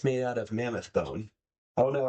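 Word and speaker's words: bodhrán: for cording and accompanyment this is called a bon I'll spell it for you because uh it is not spelled as it sounds b o d h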